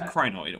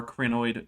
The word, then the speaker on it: crinoid: am taking a drink that is a crinoid or cranoid depending on how you want to pronounce it i don't care it